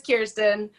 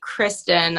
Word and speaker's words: Kiirstin: answer to kirsten also but it is kirsten um yeah i just when people say kristen i'm like that's not my name but but i you